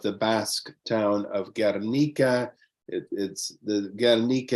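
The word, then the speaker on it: Gernika: Guernica is the Basque pronunciation and spelling. Otherwise, in Spanish, it's called Guernica, and that's what the rest of the world knows it as Guernica.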